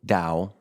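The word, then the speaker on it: Tao: Daoism spelled ta AO Dao but it's pronounced with a D um in dosm I've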